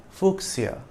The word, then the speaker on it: fuchsia: typical color of the fuchsia flower. The plant was named after Leonhard Fuchs, the 16th century German botanist. Since it's based on the surname Fuchs, it should probably have been pronounced Fuchsia, but fuchsia is the accepted pronunciation.